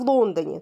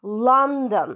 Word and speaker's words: London: расписание Моя квартира в Лондоне то есть она там находится опять-таки My Flat is in London слово Лондон название Да читается через звук а Ланда не Лондон Лондон в Лондоне in